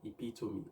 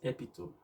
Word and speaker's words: epitome: is the word epitome how do you pronounce this word every one of us want to become an epitome of success not epitome all right and speaking